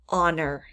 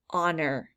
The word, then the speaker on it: honor: sort first word is honor honor that has a silent h fasten fasten means to